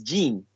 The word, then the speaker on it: gene: So I said gen to refer to the genetics. And they all laughing at me, like laughing, macam make funny lah kan, make fun of me. Where it's actually the right pronunciation is gene for that.